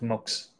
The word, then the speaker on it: MUX: them the other day the team said it's actually pronounced mugs so I've been calling mux like an idiot but